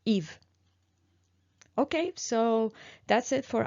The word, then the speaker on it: Yves: So for the vowel, we pronounce it E, and I chose the name Yves, which is just a name in France for usually masculine name, Yves.